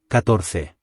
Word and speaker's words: catorce: The stress in this word falls in the middle syllable, catorce.